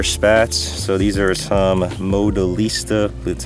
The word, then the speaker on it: Modelista: So these are some Modelista, that's how you pronounce it, rear spats, JDM part.